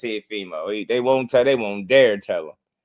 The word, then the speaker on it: Teofimo: Turkey saying Timalifu on the call.